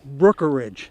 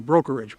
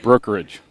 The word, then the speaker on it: Brookeridge: Brookeridge. Brookeridge. Brookeridge. Boy, I think I'm saying brokerage. Brookeridge. Brookeridge.